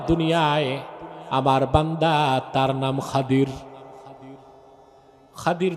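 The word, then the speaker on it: الخضر: আলেম আছে আমার দুনিয়ায় আমার বান্দা তার নাম খাদির খাদির তো বুঝেন নাই আপনারা যাকে বলেন খিজির নামটা কি খাদির বিফাতলখাদ এটারে বক্তারা বলে খিজির তো জনগণ বলে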